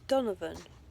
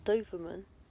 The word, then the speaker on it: Donovan: I I wow wow I've been saying his surname wrong it's Donovan not Doan there a dog breed